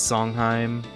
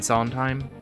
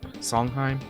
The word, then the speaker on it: Sondheim: going around like remaking a lot of these songheim Sondheim song Sondheim is that right Stephen Sondheim Sondheim I can never pronounce the right name right I know it